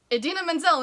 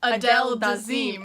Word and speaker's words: Idina Menzel: called her up, but he mispronounced her name. He turned Idina Menzel into Adele Dazeem.